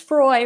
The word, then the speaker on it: Froy: She befriends an older lady named Mrs. Froy, rhymes with joy, which is her little tagline, and they kind of connect in the B&B.